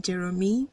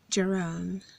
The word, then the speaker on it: Jerome: many times how yet people call this man Jeremy I don't know where they got that from but the right pronunciation the right way to call that name is Jerome Jerome very good this name